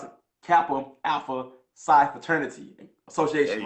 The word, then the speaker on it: Kappa Alpha Psi: Make sure I pronounce it, Kappa Alpha Psi Fraternity Association, right?